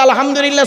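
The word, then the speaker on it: الحمد لله: দেখেন নামাজ পড়তে গিয়ে আলহামদুলিল্লাহ সূরা পড়েন বাবা বলেন না একটু কথা বলুন না আলহামদুলিল্লাহি রাব্বিল আলামিন এই মা বোনেরা ভালো করে শুনে নিন আলহামদু এই গলার ভেতর থেকে হ্যাঁ এটা উচ্চারণ করবেন আলহামদুলিল্লাহ এর মানে কি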